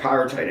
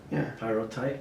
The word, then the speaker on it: Pyrrhotite: Is it the quarry who did they have knowledge that they were selling, aggregate that had pyrrhotite in it?